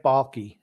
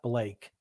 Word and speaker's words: Baalke: Drew L said, say it right, Grumpy. It's not Jacksonville. It's Trent Blake. It's Trent Baalke, not Blake. Baalke.